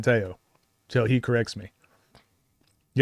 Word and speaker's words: Tello: So his name is spelled Tello, but pronounced Teao. Yeah. So I learned that at the combine the first day, said it's Teao. Since then, I've been saying Teao.